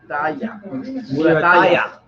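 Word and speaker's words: Muratalla: This is Murataya. Murataya. There's no I though. There's no I in his name.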